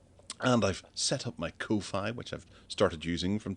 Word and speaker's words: Ko-fi: Buy me a coffee too after you bought Gareth one on Ko-Fi, which I'm assuming that should be pronounced coffee. But it's Ko-Fi.